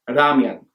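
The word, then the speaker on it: 라면: So for instance, the beloved noodle dish ramen sounds more like ramyun, and a Korean surname like Ryu is transliterated as Ryu.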